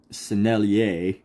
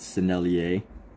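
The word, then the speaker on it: Sennelier: schmancy oil pastel our selier as I guess the French might pronounce it selier we're going to use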